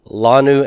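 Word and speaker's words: לָנוּ: And so the last 2, lanu and banu, nu is not a heavy ending. It's a light consonantal ending. And so I'm going to leave the stress on the first syllable.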